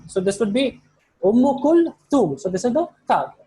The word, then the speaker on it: أم كلثوم: So this is the tha. So we pronounce as sa, but the actual pronunciation is tha. The tongue should be between the teeth. So this would be Umm Kulthum.